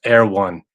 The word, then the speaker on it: Erewhon: And Rhonda says it's pronounced Erewhon.